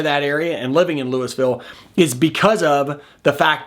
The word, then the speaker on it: Louisville: I go any further in Colorado we pronounce it Louisville we still say Louisville for Kentucky but the town here we call louville don't judge me I'm